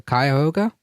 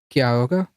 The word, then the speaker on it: Cuyahoga: him the why uh Cuyahoga rhymes with pie so Cuyahoga kyoga or Cuyahoga Maybe Perfect all right